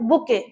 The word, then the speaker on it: bouquet: Next word की बात करते हैं, बुके। ठीक है, क्या मतलब है? देखो स्पेलिंग देखो, BOUQUET।